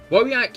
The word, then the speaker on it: Wojak: In Polish it said Wojak. You see, now I'm put in a conundrum. Wojak is the correct way to say it. Wojak. The correct way to say that is Wojak.